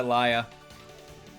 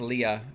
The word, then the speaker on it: LiSA: also the opening is sung by Leia I guess Leah if you want to pronounce it correctly my Sawyer Beats Leah